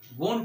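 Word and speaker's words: won't: Will note को हम लोग विलंट नहीं बोलते हैं, वोंट बोलते हैं।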